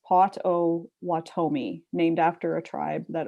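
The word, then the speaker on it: Potawatomi: audiobooks um oh and john p says it's pronounced pot o watomi named after a tribe that owns a bunch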